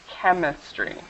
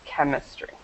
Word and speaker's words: chemistry: following word should be chemistry chemistry chemistry so even though there is that H there we don't pronounce the h it's chemistry chemistry chemistry okay perfect